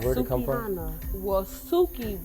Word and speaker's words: Suki: Well, Suki rhymes with. What does Suki rhyme with? Soupy? Soupy? Soupy? Yeah. Coochie. Oh. Suki Coochie.